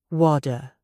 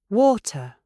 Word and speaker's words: water: Do you say WADA or do you say water? If you want a British accent, you must stop turning your T's into D's.